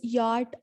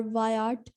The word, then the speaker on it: Wyatt: Thomas Wyatt, who is also known as Sir Thomas Yart or Wyatt. He is pronounced in both ways.